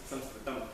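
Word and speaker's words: संस्कृतम्: the word Sanskrit and more often use SRAM which is a better way and the right way to say it and interesting thing is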